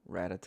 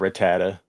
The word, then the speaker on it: Rattata: Y'all say Ratata. Ratata. Yeah. Not Rattata.